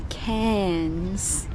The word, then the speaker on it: Cairns: We're in Cairns.